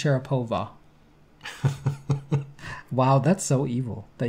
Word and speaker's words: Sharapova: to go with its syrup over you it's pronounced sharapova wow that's so evil that you would say